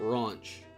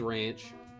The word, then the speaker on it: Ranch: way to spell it it's spelled just like ranch like dressing uh it is uh he just pronounces it raunch i think that has something to do with a little bit with his accent but no her name is ranch but uh like